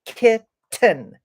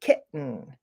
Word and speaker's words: kitten: the T very much I don't say kitten I say kitten kitten this is what we call a glottal stop you don't need to know what it's called it is where when we come to that tea those two T's together we make a stop kind of in our throat kit you can hear it